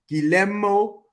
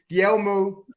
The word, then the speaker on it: Guglielmo: The second G is silent. Yeah. So Guglielmo Vicario. Yeah. Guglielmo. Flipping hell. Guglielmo. Clip it. That's a gelato. I was pronouncing it properly, man. So it's Guglielmo Vicario. There. Yeah. There. G silent.